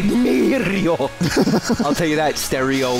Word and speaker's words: Mario: I bet you they say Mario. Mario. It's a long A.